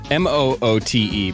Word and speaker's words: Moote: Moote, by the way. That's how you spell that. That's right. The E is silent.